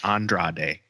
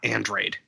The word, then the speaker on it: Andrade: take Spanish but like when you learn the alphabet they teach you how to pronounce each letter so it but does wasn't that hard to be like ah for the A's and a for the E and be like Andra Andrade not andreid like a cybernetic power drink